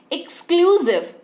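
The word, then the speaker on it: exclusive: एक्सक्लूसिव, मेरे बात बोलिए, आपको महसूस होगा कि आप एस बोल रहे हैं।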